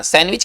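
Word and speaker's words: sandwich: बोला नहीं जाता है डी स्पेलिंग में होना चाहिए हालाकि डी को बोलते नहीं है है ना सैंडविच का मतलब सैंडविच सैंडविच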